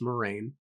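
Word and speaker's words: Moiraine: It's not Moira, it's Moraine.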